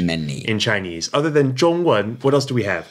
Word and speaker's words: 中文: Well, that would be 中文, Z-H-O-N-G in the first tone and 文, W-E-N in the second tone. 中文.